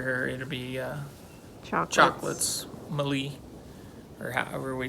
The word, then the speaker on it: Meli: name and it's called malia i think that's how you pronounce it so we uh looked it up and it's actually mali and um it's an